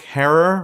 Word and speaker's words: Jack Herer: did the story of Jack Herer rhymes with Terror and how he green